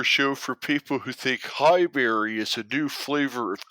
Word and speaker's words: Highbury: Oh man, Highbury. There's no berry. All right, we don't have that kind of sound in American English.